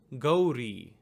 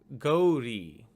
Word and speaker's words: Gauri: of the letter, and you get ri, ri. So the transliteration of this word reads as Gauri, Gauri.